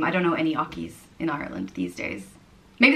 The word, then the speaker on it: Ockey: The next name is Ockey, and it means horseman, and it's pronounced Ockey. Ockey.